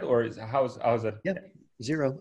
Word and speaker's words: Xero: Yeah, Xero. Oh, that's spelled with an X, but it said Xero Shoes.